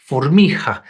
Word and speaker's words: formica: So for example, the word for ant, formica, is pronounced formija.